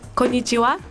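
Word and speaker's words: こんにちは: win 50 000 for your business it's pronounced konichiwa oh thanks i'm going to japan you ever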